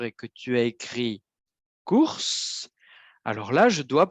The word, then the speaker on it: cours: Si je dis cours, ça veut dire que la consonne finale ne se prononce pas.